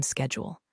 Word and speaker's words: schedule: Liberty, I've checked your afternoon schedule. He pronounced it the British way.